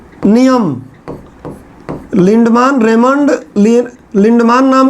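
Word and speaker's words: Lindeman: नाम था Raymond लिंडमान, कुछ लोग लिंडमैन बोलते हैं। अब हम लोग इंडियन हैं, इंग्लिश को टॉप लेवल पे बोलते हैं। अरे टॉप लेवल, तो हम अपने मन से इंग्लिश का प्रोनाउंसिएशन कुछ भी बना देते हैं, उच्चारण। तो अब उसका प्रोनाउंसिएशन कुछ किताबों में लिंडमैन लिखा हुआ है, कुछ किताबों में लिंडमान लिखा हुआ है। मैं तो मान ही लिखूंगा, मान ठीक लगता है।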